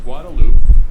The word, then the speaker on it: Guadalupe: The stretch of roadway known as the drag is the portion of Guadalupe Street that extends, strictly It's pronounced speaking, Guadalupe.